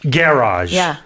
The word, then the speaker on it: garage: Garage is is how you say it. You say garage. Garage. So, the the stress is on the second syllable for American English.